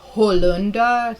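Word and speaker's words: Holunder: well known in germany it's called hollunda spelled like hollander right and uh it's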